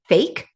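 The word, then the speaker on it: PHEIC: it's hilarious that they call it a fake p h i c that's pronounced fake yeah a uh somebody remind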